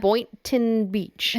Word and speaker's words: Boynton Beach: Boynton Beach.